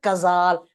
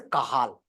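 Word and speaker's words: Cajal: interstitial nucleus of the kazal kazal better to say correct pronunciation is the kahal okay yes so patient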